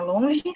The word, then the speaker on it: Longi: O Gustavo trabalha na Jinko e o Alan trabalha na Longe. Longe ou Long? Isso eu não sei. É longe, longe, Long, a pronúncia é como se fosse um J, assim, então, longe.